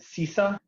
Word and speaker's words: CISA: Going back to if I pronounce this correctly, is it CISA? Correct.